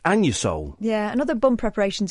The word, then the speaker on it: Anusol: It's pronounced Anusol.